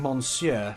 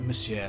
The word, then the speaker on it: Monsieur: we have been saying Monsieur for everything because that's how it's spelled. Monsieur? You actually don't pronounce the N, it's like Monsieur.